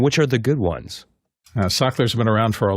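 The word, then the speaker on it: Sachtler: for us and which are the good ones scker has been around for a long time as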